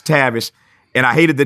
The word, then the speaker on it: Tavis: I hated the name Tavis because I was always called out of my name, Travis, Tavis. Nobody could pronounce Tavis.